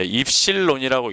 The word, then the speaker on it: 입실론: 일을 이제 뭐라 그럽니까 얘를 그리스 문자로 이제 입실론이라고 읽습니다 그래서이를 뭐라고 하는 유전